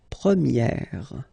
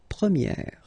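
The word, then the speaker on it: première: change quite much because if you think about the masculine form you pronounce it prier okay prier and then for the feminine form you will get Premier okay so it's open this a sound Premier prier prier and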